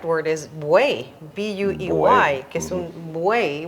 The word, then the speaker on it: buey: Well, the correct word is buey, B-U-E-Y, que es un buey, which is a bull, un buey.